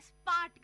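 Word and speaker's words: spät: Bald का मतलब है सून, नॉट टकला, सून जल्दी आना, और स्पार्ट का मतलब है लेट। स्पार्ट का मतलब है लेट।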